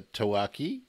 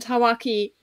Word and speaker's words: tawaki: penguin that we're going to be discussing the tawaki how's my pronunciation sawaki is perfect yeah so um